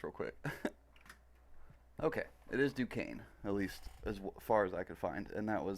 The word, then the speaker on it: Duquesne: to say this real quick okay it is Duquesne at least as far as I could find and that was uh I looked up vlogging through history because I remember him saying something about Fort Duquesne in the video where he reacted to oversimplified's